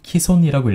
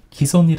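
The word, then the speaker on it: 既存: 일도 있을 것 같은데요 원래는 키 손이라고 이런게 맞고 기 소니 라는 발음은 인정되지 않았습니다 하지만 많은 사람들이 실제로 기 손이라고 1년 점을 고려해서 nhk 에서는 기 솜 역시 인정하기로 했습니다 그러니까 두 개의 중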